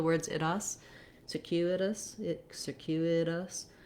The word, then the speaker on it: circuitous: I really actually should write this more as a D, because in circuitous we use that flap because the letter T is between two unstressed syllables, and it goes by quickly. We have our voice on, just like we do D's in the middle of words. So rather than circuitous, circuitous in American English.